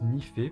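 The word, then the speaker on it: nife: ni peu et nief eux mais ça se prononce n'y fait parce qu'en fait c'est ça désigne le noyau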